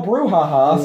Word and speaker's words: brouhaha: and figure out how to spell brouhaha so I can put Google.